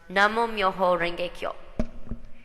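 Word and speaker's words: Namu Myoho Renge Kyo: In Japanese, this consists of 7 characters and is pronounced Namo Myoho Renge Kyo.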